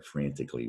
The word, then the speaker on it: frantically: adverb frantically and again it sounds like you don't there isn't an al there frantically when you pronounce it but you have